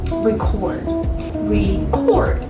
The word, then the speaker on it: record: So it's really when you think about the word record. You know how that first syllable is a little less, it's a little bit more weak. It's passed by a little bit more quickly, but then chord receives more energy. It receives more, it's just more strong, you know what I mean?